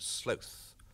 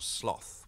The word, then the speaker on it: sloth: The bradypus, or three-toed sloth, or sloth. We use both pronunciations.